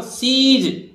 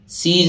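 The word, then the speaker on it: seize: ई आना चाहिए था, एस आई ई जेड ई लिखना चाहिए था, पर नहीं आता है, सीज में ई आई आता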